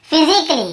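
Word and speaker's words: physically: और देखिए फिजिकली, हम क्या पढ़ते हैं, फिजिकली, ये देखिए फिजिकली, तो यहाँ पर भी ए का उच्चारण नहीं हो रहा है।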